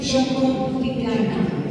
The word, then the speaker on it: Xocotitlán: Se pronuncia Xocotitlán, Choco.